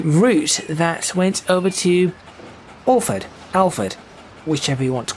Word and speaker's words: Alford: And definitely the last part is Fud, though it's spelled Ford, but that is just a pronunciation thing.